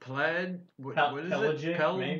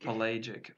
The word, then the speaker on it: pelagic: Well, how would you say that if you read it? Pelic. Pelic. Pelagic. They say pelagic.